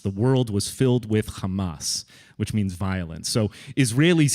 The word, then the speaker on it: Hamas: uh Hamas and you're hearing lots of different pronunciations I've noticed on the news um in Arabic it's Hamas Hamas the a sound is is common in Arabic